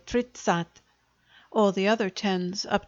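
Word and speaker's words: тридцать: go up to 30 which is tradition or three tens but generally shortened in pronunciation to tritsat or tritsat all the other tens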